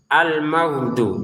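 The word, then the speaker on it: المغضوب: ke Al-Qur'an istighfar astagfir almagdu jangan almagdu dipantulin lagi huruf G-nya almagdu jangan almag itu huruf tenggorokan bagian atas ya almag mag gh ghu Bagu coba dirasakan sendiri ya.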